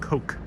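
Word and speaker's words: Koch: your walks i think kosh brothers last name is pronounced coke despite the spelling says donald yeah i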